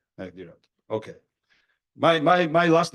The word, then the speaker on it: Mehndiratta: and I think it's Mehdirata. Mehdirata. Am I pronouncing H or no? Mehdirata. Mehdirata.